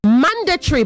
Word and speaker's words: mandatory: You also say mandatory, both of you, not mandatory. Mandatory. The stress is on the first syllable.